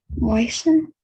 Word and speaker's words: moisten: The letter T would be something quite similar, okay? But just don't pronounce it.